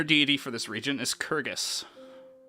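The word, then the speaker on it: Kurgess: feldrin major deity of this region is shellin it's spelled s h e l y n minor deity for this region is kyrgys spelled k-u-r-g-e-s-s Pacific region specifically is known as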